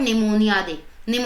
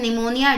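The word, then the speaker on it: pneumonia: First statement हमें दी गई है वर्ल्ड निमोनिया डे। ठीक है, पी इसमें साइलेंट होगा, आपको पता होना चाहिए।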